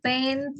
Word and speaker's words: paint: Ada T-nya ya? Pen. Ada T-nya. Paint. Paint. Ya, coba di lidah itu ya. Paint sama pain.